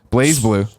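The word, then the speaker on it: BlazBlue: blue BL blue yeah you just don't even pronounce the Z I don't know col and I used to just do it to annoy CL it's blaze blue we're we're we're American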